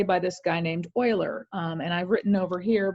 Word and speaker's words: Euler: discovered you might say by this guy named Euler and I've written over here because to me it's not obvious it's pronounced like Euler but it's spelled like Euler or at least